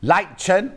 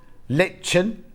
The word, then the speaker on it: lichen: wbyv 25 I can how do you say this then light chin lichen litchen licken I think it's lichen as well I'd call it Nokia